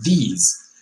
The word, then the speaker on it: these: pronunciation between this and these ok as you can see these are two different vowels right because this is a little shorter than these which is longer right and a little